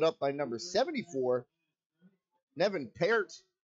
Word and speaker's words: Peart: And that one swallowed up by number 74, Nevin Peart. Or Pert is how the public address pronounced it, so I'll go with his pronunciation.